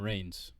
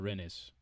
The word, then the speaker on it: Reims: of stopping, which is Paris Saint-Germain, Marseille, and Reims. Is that Reims or Rennes?